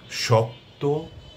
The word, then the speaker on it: শক্ত: শব্দশেষে সংযুক্ত বর্ণ থাকলে সেক্ষেত্রে অন্তিম বা শেষের অ এর উচ্চারণ ও এর মত হবে। শব্দগুলো আমি বলছি। শক্ত ভক্ত অনুরক্ত যত্র তত্র